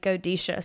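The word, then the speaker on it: Godetia: used to say it g-o-d-e-t-i-a and it's actually godisha so I completely bombed that anytime I was talking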